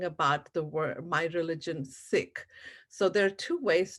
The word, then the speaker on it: Sikh: So if you pronounce it, think of it as S-I-C-K, but with an H at the end, Sikh, right?